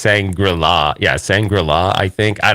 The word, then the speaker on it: Shangri-La: the first rule of sangrula I don't even know if that's how you say it it's Shangri-La yeah Shangri-La I think